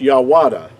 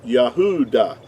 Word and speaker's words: Yahudah: It would not it would not be pronounced yawada. It would have to be pronounced yah yahudah.